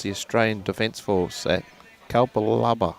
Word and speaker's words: Capalaba: bowls Queensland versus the Australian Defense Force at Kalpa Laba. How do you spell that one? How do you spell that one, Timbo? Capalibar. Capalabar.